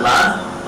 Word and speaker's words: Lan: It's pronounced LAN. L-A-N. That's how it's spelled. That spells LAN. You don't hook up all the computers together and have a lawn party, do you?